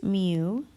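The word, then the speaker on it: μ: a new variable for us and it is pronounced mu this does not have a unit there is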